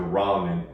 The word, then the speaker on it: ramen: trying out sushi or ramen. I remember growing up, they didn't pronounce ramen right. People would say, hey, you be eating them Roman noodles all the time. I'm like, Roman?